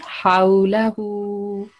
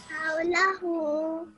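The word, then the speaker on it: حولهُ: So it will be Haulahu. Haulahu. So this ha is thick, ha, thick sound coming from your throat.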